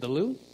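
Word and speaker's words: Louvre: I've heard it's really good what is it the loo is that what it is yeah that's how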